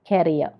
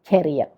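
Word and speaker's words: career: കരിയർ ആദ്യത്തത്, ക്യാരിയർ ഇത് കരിയർ.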